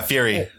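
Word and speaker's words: Furi: Yeah, Fury.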